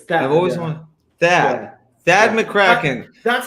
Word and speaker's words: Thad McKraken: it sad it's that I've always wanted that that McCracken that's how you pronounce my fake name right right it's I